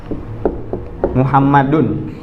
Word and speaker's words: Muhammad: Muhammadun.